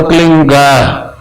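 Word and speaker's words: क्लीं: की मात्रा और बिंदी, उसका उच्चारण होगा क्लीन गा, गा की ध्वनि निकलेगी पीछे।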